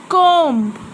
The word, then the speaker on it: comb: Comb. I'm not pronouncing B.